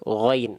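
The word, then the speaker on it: غين: g itu berbeda ya Kalau teman temteman melafalkan Gin di sini itu bayangannya seperti Huruf g ya nanti melafalkannya gini waagossaqo wag go ahah nanti gitu nanti gitu pelafalannya jadi beda antara gain dengan G itu beda Walaupun memang huruf Gin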